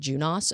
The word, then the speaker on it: Junos: a deadline patch Juniper Juno's flaws OS flaws before November 17th I also thought this was pronounced junos until we did a course on it and then it's it's actually junos apparently I've been corrected